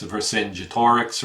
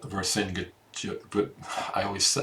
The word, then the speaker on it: Vercingetorix: You've got, I'm assuming this is Caesar, and that's Vercingetorix right there.